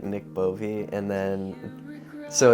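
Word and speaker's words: Bove: last name so my name's just like Nick bovie and then so it's spelled like b o v e like that's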